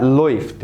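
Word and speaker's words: läuft: اسمها لويفت مش لوفت، اسمها ايه؟ لويفت.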